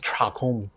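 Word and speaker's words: Dagom: to pronounce because it's spelled d-a-g-o-m but rumuchi's pronunciation is chakum so it's a i guess it's a tibetan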